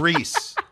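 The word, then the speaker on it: Rhys: It's not John Cena. It's John Reese.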